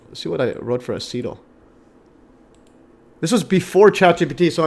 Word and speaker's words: acetyl: Okay, how do you pronounce acetyl again? Acetyl.